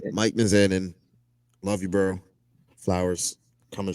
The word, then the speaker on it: Mizanin: don't know realize yeah I thought it was mazzanian okay I didn't want to say it wrong it's closer yeah m-i-c-a-n-i-m all right Mike mizanin love you bro flowers